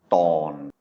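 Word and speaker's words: เดิน: So, Durn, it's a mid-tone because it's a mid-class consonant with a sonorant final, making it a live syllable. So that is Durn.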